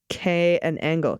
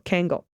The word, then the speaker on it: Kangal: a purebred Turkish Kangal, pronounced K and Angle, Kangal, a breed similar to but distinct from the Anatolian.